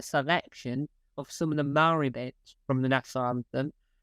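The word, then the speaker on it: Māori: I'm trying to learn Maori oh wow well I mean you're off to a bad start because it's pronounced Maori uh I think so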